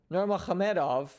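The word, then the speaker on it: Nurmagomedov: versus habib the eagle norma khamedov and yes that is the proper pronunciation of both his first and last name so super excited to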